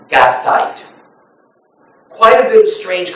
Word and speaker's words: Gittite: housing the ark was Obed Edom the Gittite, or probably the best pronunciation is Gattite.